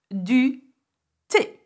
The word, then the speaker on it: thé: So, du thé. And that's tea, as in a cup of tea. Du thé, okay?